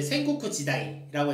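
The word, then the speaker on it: 戦国時代: 그런데 이제 일본의 이제 전국시대, 일본 발음으로 하면은 이제 센고쿠 지다이라고 해서 이제 센고쿠 시대라고 이제 제가 좀 구분해서 이렇게 써보려고 하는데요.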